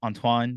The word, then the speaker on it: Antoine: It's funny because I have a lot of different pronunciations because like Antoine could be Antoine, like the French do it, and then like, it's weird.